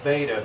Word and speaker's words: beta: for the polar angle, beta. Beta rhymes with theta, so alpha's got the